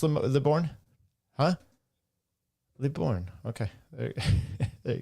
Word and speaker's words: Libourne: How do you pronounce Libourne?